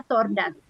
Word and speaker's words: tortoise: Tortoise. Tortoise. Tulisannya tortoise, tapi cara bacanya tordas.